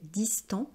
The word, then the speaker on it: distant: Parce que son ami est devenu distant. Alors on ne prononce pas le T, puisque c'est une consonne finale.